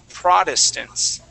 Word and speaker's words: Protestants: okay that word is Protestants Protestants so Protestants so that first T we're going to treat as a d Protestants okay Protestants okay